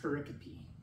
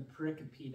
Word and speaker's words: pericope: One is pericope, and it's spelled P-E-R-I-C-O-P-E, okay?